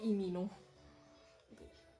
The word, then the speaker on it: Lee Min Ho: Itu Vicky Naki diomongin kayak gitu udah berasa sekelas sama Imino, Lee Min Ho, kalau di Korea pronunciasinya Imino.